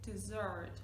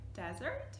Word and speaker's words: dessert: Right, this word over here is dessert with a z, dessert, double S. Look at the spelling also, remember? For example, I'm gonna have brownie for dessert. If you say it like desert, you get like Sahara Desert, Kalahari Desert.